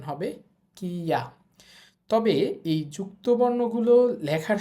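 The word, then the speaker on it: キャ: তো যাই হোক, কি এর সাথে ইয়া উচ্চারণ হবে কিয়া।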